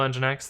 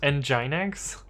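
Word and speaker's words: nginx: it was because of engine X so funny thing about engine X um for the longest time I thought it was pronounced enyx uh I heard somebody pronounce it out loud so but yeah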